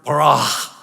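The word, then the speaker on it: בָּרָא: The better you roll your R and the longer you hold on to that A, the better it will sound, the more impressive you will be, right?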